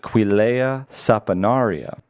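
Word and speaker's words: Quillaja saponaria: The tree is pronounced Quilea saponaria.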